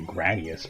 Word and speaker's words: Gradius: an interesting game yeah I said gradius this time instead gradius I can deal with it that's what it's like when you're playing gradius actually gradius probably is the most correct pronunciation and that's the one I use the least often you